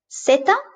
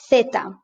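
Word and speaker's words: zeta: it like an s ceta but in spain we call it feta and that's a th in theater this is always pronounced like this in the standard spanish from europe uh theta and for example this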